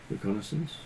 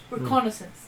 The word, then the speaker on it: reconnaissance: So we could do some recgnissance. Is that how you say that word? Regenance. How do you say that word? Reconnaissance. Reconnaissance.